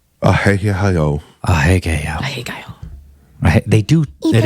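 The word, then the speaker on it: アヘ顔: Japanese, you have to pronounce all the letters. Ahegao. Ahegao.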